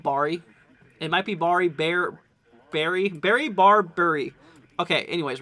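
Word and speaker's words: Barre: eye on it now Kate is saying uh it's pronounced bear um okay so we're I'm still gonna call it Barry just because I've already gotten used to it um so obviously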